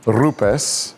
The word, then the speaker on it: Rupes: So the correct pronunciation of Rupus is actually Rupus. We're supposed to roll the R because it's an Italian name.